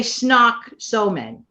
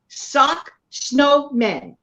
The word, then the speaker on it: Sock Snowmen: because they normally say Snock Snowman, but I said it right. Sock Snowmen.